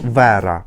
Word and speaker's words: Вера: в неї новий псевдонім вона зараз називається як Вера якщо ми читаємо на українській лад Так то Воно читається як Вера правильно хоча чому не Віра Вера тобто Вера